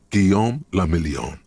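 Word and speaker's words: Guillaume Le Million: meant only one thing guillaume lamillion if it doesn't rhyme you're not pronouncing it right you have some understanding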